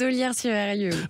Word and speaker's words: Ollières-sur-Eyrieux: Comment une championne et chef d'entreprise installée en Ardèche à Ollières-sur-Eyrieux, je le prononce bien? Aux Ollières-sur-Eyrieux, oui.